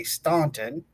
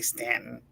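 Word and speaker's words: Staunton: So just check out Ghost of We say Stuntton here, but it is we we actually say Stanton, but it's spelled Staunt.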